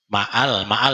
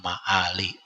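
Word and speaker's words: مآل: Ma'al bacanya lah. Ma'al. Nah, sama kayak doa di ratib atas tuh jangan salah. Bilhali wal ma'ali. Jangan bilhali wal mal.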